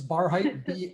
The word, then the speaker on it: Barhydt: my name is barheit and lenora did a great job of pronouncing my last name because it's spelled with the dutch german spelling uh it's bar height b-a-r-h-y-d-t uh my friends in